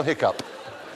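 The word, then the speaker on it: hiccough: lot more Vivid it is more Vivid spell hiccup H IOU c o u g h but why is it pronounced oh this considered an error considered an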